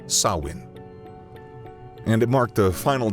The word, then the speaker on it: Samhain: It was a festival called Samhain. Or at least that's how it appears phonetically to us, but it's actually pronounced Samhain.